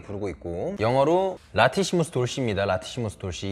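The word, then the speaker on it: latissimus dorsi: 라티시무스 돌시. 이게 레티시머스 돌시라고 알고 있었는데 레티시머스 돌사이가 미국식 발음이고 라티시무스 돌시가 영국식 발음입니다.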